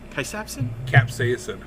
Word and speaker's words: capsaicin: Capsaicin? Capsaicin.